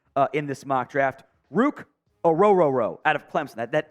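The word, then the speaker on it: Ruke Orhorhoro: on the trenches uh in this mock draft Rook aoro out of Clemson that that is how it is pronounced by the way uh the the Clemson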